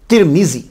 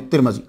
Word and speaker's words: तिरमिज: तरमज, तुरमुज, तरमिज, तिरमिज, 4 pronunciation है इसके। मेरी बात आप समझ गए। और ज्यादा फसी जो है वो तिरमिजी है, तिरमिज है।